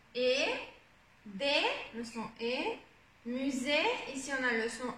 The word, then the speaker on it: musée: des, le son et, musée, ici on a le son et ici attention on a le son U, musée, musée, et là c'est invisible, ES ça ne se prononce pas.